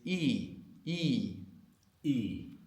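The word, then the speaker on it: いい: good in Japanese is e e. That's a long vowel e. And it's important to pronounce it long in the same way the difference between sheep and ship is important in English or sheep and and what?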